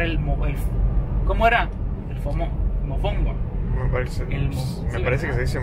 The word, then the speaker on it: mofongo: Ahora vamos a la casa de la cuñada de Luis, porque nos invitó de último minuto a comer mafongo. Mofongo, no mafongo. Mafongo no, perdón.